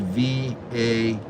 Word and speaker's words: Vail: Now it is spelled V-A-I-L, Vail, Arizona.